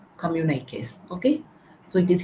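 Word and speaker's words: communiqué: c o mmu n i quu s it's pronounced as communic communic okay so communic are issued by the government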